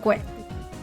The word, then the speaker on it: gui: Oh, guay. Guay. Okay. Yeah, it is more like guay. Okay. It's just an I. It's gui. And they're spelling it uh gui. So, I know they pronounce it as guay.